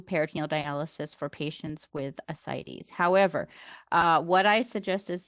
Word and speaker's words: ascites: with, you're going to have to help me pronounce this, ascites? Oh, ascites.